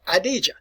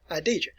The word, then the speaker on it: Khadija: and this lady's name this female's name was idija adija sometimes you'll see it pronounced or sometimes you'll see it spelled as khadijah all right idja so